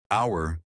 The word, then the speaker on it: hour: No caso de hour, embora comece com a letra H, esse H não é pronunciado.